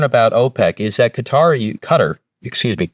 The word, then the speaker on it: Qatar: You know, fun fact I did learn about OPEC is that Qatariq Cutter, excuse me, it's pronounced Cutter, uh, used to be a core member of OPEC until about 2019.